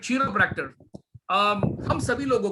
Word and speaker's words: chiropractor: और in Europe they pronounce as कायरोप्रैक्टर. but I'll say chiropractor in an Indian style.